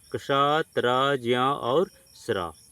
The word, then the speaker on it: क्ष: तब इसका उच्चारण कष कैसे बना है? तो इसको हम लोग देखेंगे। कष की यदि बात किया जाए तो आधा क और मूर्धन्य स है। जैसे कक्षा शमा। ठीक?